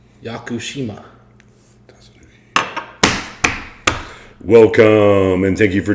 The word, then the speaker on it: Yakushima: Tsunuki Yakushima.